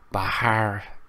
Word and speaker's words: Bharat: word for indecent no you're saying it wrong there's an H in there dude pronounce the H but by heart right right oh man